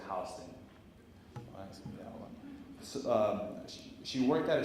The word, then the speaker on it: Houston: the twin towers on what spelled Houston Street but we New Yorkers pronounced at Houston so she worked at